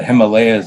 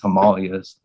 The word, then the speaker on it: Himalayas: But you're driving through the entrance into the Himalayas, or the Himalayas is what Yes, yeah. how most people pronounce it. The correct pronunciation is Himalayas, but regardless, yeah.